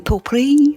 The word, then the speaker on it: potpourri: I know a lot of people kind of swallow the T when they say it.